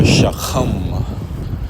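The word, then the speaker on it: שחם: And this lesson is entitled Quick Hebrew Word, Brown or Shachaam.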